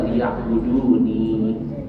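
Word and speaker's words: ليعبدون: Liya'buduni. Dihilangkan ya mutakallim, dicukupkan dengan harokat kasrah. Jadi dibacanya liya'budun.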